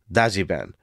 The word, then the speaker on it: Dajiban: first language is Japanese the two words Dodge van is actually pronounced daian because their heavy accents have basically created a new word that Dodge vans are known by in Japan and not only is